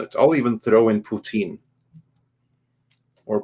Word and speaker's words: Putin: I'll even throw in Putin. Or Putan. I'm not quite sure how No, I it's think you said it pronounced.